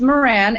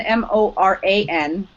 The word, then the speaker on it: Moran: I don't know if it's Sam Moran, but it's spelled Sam Moron. No, it's called Sam. It's Moran, Moran.